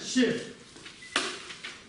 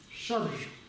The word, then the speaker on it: ཤད: Есть так называемая ще. Ще. Записывается она вот так, смотрите. Ще. На самом деле как должно читаться? Шадр. Читается ще.